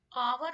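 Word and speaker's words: hour: होते हैं, जैसे कि यहाँ पर H साइलेंट है, आवर में H साइलेंट होता है, तो साउंड हमारा O का ही आता है, तो इसलिए हम आवर से पहले N आवर यूज करेंगे।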